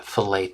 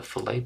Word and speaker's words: fillet: points go ahead and select the filt tool and or fill it tool whichever however you want to say it it's probably fillet I've been saying it wrong my entire life and I'm only thinking